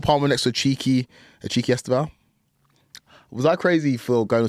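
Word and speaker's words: Estêvão: Esteval. Oh, he's. You lot call him Steve? Yeah, Esteval. That's how you pronounce it. Esteval, yeah. In Portuguese.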